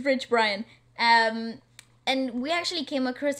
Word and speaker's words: Rich Brian: Rick Bryan is such a cool dude, right? We actually came across. Isn't his it pronounced work.